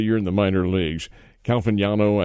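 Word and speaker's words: Caglianone: Calviniano, I think is how he says his name. The G is silent in there.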